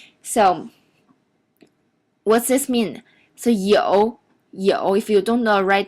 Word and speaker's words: 有: So 有 if you don't know, write down the pinyin. It's what is spelled like Y-O-U in third tone.